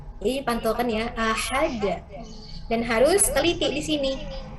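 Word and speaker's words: أَحَد: Ujungnya di sini ini adalah huruf qalqalah. Sehingga huruf qalqalah itu dipantulkan. Ahad, ahad. Qul huwallahu ahad. Bukan qul huwallahu ahad. Ahad. Jadi pantulkan ya, ahad.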